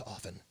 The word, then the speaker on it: often: my own woman it's often often often there's a tea in there there's the tea aside often you ever seen